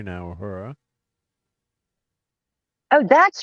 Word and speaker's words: Uhura: Uhura, of course, this is the wave 3 now. Uhura. Oh, that's how it's spelled. I could not figure out what that word is that you kept saying. Uhura?